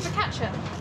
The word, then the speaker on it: focaccia: How do you pronounce that? Focaccia.